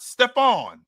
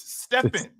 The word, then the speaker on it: Stephen: It's not Stephon. It's Stephen.